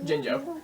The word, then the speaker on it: Jinjo: Now here, we need to learn the strut to get to the Jingo level. Yep, Jinjo.